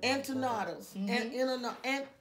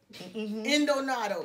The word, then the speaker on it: empanada: Empanadas. Endonados. Uh-huh. Those. I might can't pronounce that one right. It's empanada. Empanadas.